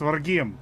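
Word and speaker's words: Rhegium: Regime. Yeah. Regium. Regium. I'm Sicilian. I should be able to say this shit, but I can't. I was there. I know how to say it. It's Regium.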